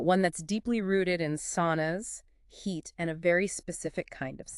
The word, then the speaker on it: Sunn O: the band Sunn O, we're pronouncing that simply as sauna, like the hot room. Not sauna O or anything like that, just sauna.